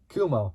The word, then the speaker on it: Kumho: How do you even say it? Kumo. There we go. Why did I put the H on it? That doesn't make sense. So the tires were from Kumo, using a set of